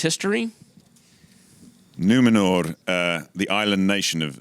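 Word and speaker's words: Númenor: island kingdom of numenor well pronounced r on the end numenor numenor i don't want glenn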